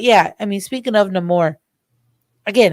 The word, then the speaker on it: Namor: But yeah, I mean, speaking of Namor, again, how they say it in the movie, Namor instead of Namor, I loved it.